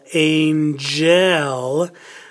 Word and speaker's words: angel: go over here then we spell angel in gel that one has a soft G gel goal gel goal